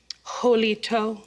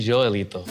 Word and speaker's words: Joelito: Now, Jolito. Actually, Joelito.